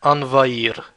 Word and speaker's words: envahir: verbs, is the verb envahir, to invade. Notice how I didn't pronounce the H. It's a mute H. Envahir, envahir, to invade.